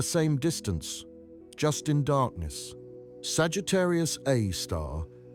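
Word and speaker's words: Sagittarius A*: It's called Sagittarius A Star, pronounced Sagittarius Aar.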